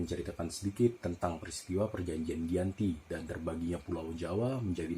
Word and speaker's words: Giyanti: perjanjian itu dialah ditandatangani yaitu Desa Janti yang dalam pelafalan Belanda menjadi Giyanti yang sekarang tempat tersebut